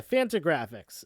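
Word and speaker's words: Fantagraphics: this is from the ariz original uh what is it fanta graphics i want to make sure i pronounce this right yeah phantom graphics is the company that uh that um originally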